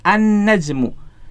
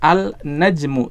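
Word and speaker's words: النجم: ya najmun annajmu Jadi huruf lamnya melebur ke huruf setelahnya dalam hal ini berarti huruf nun ya lamnya tidak dibaca kita tidak membaca alnajmu tidak ya Salah Kalau kita membacanya dengan alnajmu tetapi bacanya gimana annajmu ya jadi di sini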